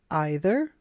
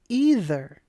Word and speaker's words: either: the park Pro tip you can say either or either it's also true with neither or neither both pronunciations are correct choose one that you like neither nor presents two